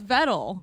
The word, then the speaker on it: Vettel: joku or whatever like it's vettel bro motorsports are my life i i think i know how to pronounce the last name of him and if it's if